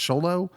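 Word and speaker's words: Xolo: butcher his name but sholo I think it's pronounced sholo maridia who plays haime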